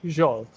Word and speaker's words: Zsolt: Okay, so the ZS is Z, like when you say pleasure, treasure, Z, Z. Yeah, so my name would be Zsolt.